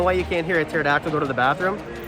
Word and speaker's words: pterodactyl: Yeah, do you know why you can't hear a pterodactyl go to the bathroom? Because the P is silent.